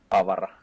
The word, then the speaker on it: Avara: Twister, how is Avara correctly pronounced in Finnish? Avara.